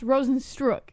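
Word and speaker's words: Rozenstruik: I mean he is a professional announcer it's pronounced Rosen struck and how do you pronounce in Ghana I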